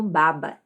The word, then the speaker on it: baba: Viu a diferença? Baba, babá.